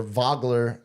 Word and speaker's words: Wagler: Wagler, it's the German V. The W, German W is a V, is how we pronounce a Nowitzki.